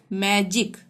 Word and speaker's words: magic: ठीक है, तो जी के बाद आई आ रहा है तो यहाँ पे ज का उच्चारण होगा। हम कैसे बोलेंगे? मैजिक।